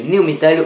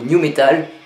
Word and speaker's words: nu metal: Et comme branche du metal alternatif qui m'intéresse beaucoup, il y a le new metal ou new metal. Oui, ça s'écrit vraiment comme ça, apparu dans les années 90.